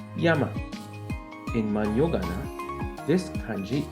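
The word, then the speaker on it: 山: reading or only but in Japanese mountain is pronounced as Yama in man yogana this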